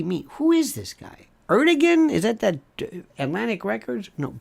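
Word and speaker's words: Erdoğan: Erdogan? Is that Atlantic Records? No, pronounced Erdogan, and by the way, it's Turkiye, right?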